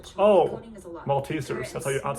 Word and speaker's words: Maltesers: Maltesers, that's how you pronounce it.